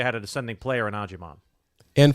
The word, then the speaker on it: Agyemang: Agyemang. Agyemang. 10 goals, 3 assists. Don't look at the last name. The last name throws you off. It's Agyemang.